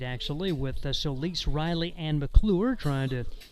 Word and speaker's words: Solis: S-O-L-I-S, but pronounced Solis.